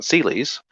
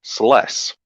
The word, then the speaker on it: Celes: played final fantasy 6 one person i kept calling celie's ended up being pronounced properly pronounced celes fun times anyway oh